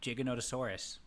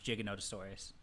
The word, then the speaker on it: Giganotosaurus: stuff for you too I say Giganotosaurus it's pronounced uh Giganotosaurus oh well thank you uh Stu for agreeing with me it is pronounced jig noasaurus yeah yeah well at